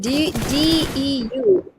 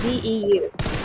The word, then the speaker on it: DEU: Sounds like Dew. Alright, so we got DEU. And that's how we pronounce it, DEU.